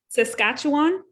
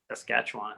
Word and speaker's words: Saskatchewan: like saying it because i learned how to pronounce it popularly that's all say again sorry saskatchewan saskatchewan yeah thank you saskatchewan um we we we